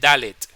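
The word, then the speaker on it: דלת: Es dal verdad la letra que viene es dalet esta que está acá la d dicen que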